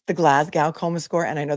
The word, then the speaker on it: Glasgow: Labada to her credit very politely said um it's the Glasgow coma score and I know that people in Scotland don't pronounce the W and they call it Glasggo.